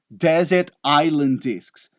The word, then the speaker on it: Desert Island Discs: Nada de Iceland, nada de Island. A gente não pronuncia aquele S ali, tá? Desert Island Discs.